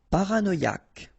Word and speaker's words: paranoïaque: Paranoïaque. Okay, remember, Q-U-E, K, ac. Paranoïaque.